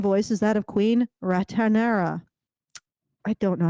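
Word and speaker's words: Rhaenyra: her former Friend R it's Raya rera yeah okay you you look at that how it's spelled there's no T though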